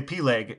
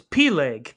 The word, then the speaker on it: Peleg: fighting because i'm sorry you you can't just say p-leg and not say how that's spelled this man's name was p-leg p-e-l-e-g oh okay i did